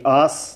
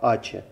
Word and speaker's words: ACE: Если кто не знает, как правильно, то читается правильно Ачи. Не АС, не АСЭ, а Ачи.